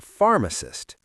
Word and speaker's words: pharmacist: You know doctor and nurse, but what about the pharmacist? The pharmacist is the person who prepares your medicine. Remember, the PH in English sounds like an F.